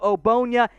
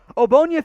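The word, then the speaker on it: Ogbonnia: pick number 169 otito obonya it is not pronounced the way it looks the g it just ignore it doesn't exist for our purposes here obonya fits as a run-stopping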